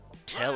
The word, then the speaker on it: Telly: Telly? Rhymes with Nelly.